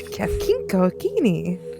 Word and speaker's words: Kafkinko Kini: You didn't emphasize the kink enough. Kafkinko Kini. There you go. Kink. and you got a chitter in between some of those syllables too.